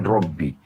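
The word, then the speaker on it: رب: Nah, karena dua baknya supaya ringan diucapkan dipakai tasydid dikatakan Robbi. Berarti 3 huruf, 30 pahala.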